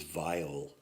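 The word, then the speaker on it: weil: transhumanist pretender to use a kind word is vile you are vile mr.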